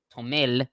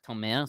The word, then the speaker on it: Tomer: And he also says that my name wrong, which is Tomel. No, it's Tomer.